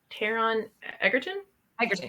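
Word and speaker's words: Taron Egerton: know pronounce his name is it teron eggerton yeah you said it perfect tara nigelton yeah eddie there you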